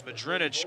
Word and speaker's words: Mudrinich: Pardon me, Mudrinich. I've been mispronouncing his name there. 2nd and 1 coming up as Mudrinich gets 9 more.